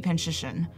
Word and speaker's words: Panczyszyn: I missed you know I'm saying my last name wrong it's supposed to be pinched ition um but like you're